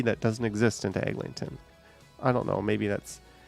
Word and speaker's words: Eglinton: But you also always hear Eglinton, where there is no G. Like they drop this G, but they stick a G that doesn't exist into Eglinton.